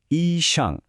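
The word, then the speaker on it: 医生: খোঁজ করি ডাক্তার ঠিক ডাক্তারকে ম্যান্ডারিনে বলে ইশাং উচ্চারণটা হলো ইশাং এখানে একটা মজার ব্যাপার আছে খেয়াল করেছেন হাসপাতালের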